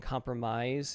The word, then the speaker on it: compromise: The last vowel sound in compromise is the AI, which would rhyme with find.